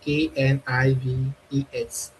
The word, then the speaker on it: knives: So that's why we have KNIVES. So first the spelling have changed and now again the pronunciation have changed. So it's now knives, knives.